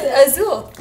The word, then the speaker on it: azul: Wait, Alexa, how do you say blue in it's Spanish? It's azul. And verde is green. Blue in Spanish is azul. Oh. Azul. Yeah, you didn't say it right.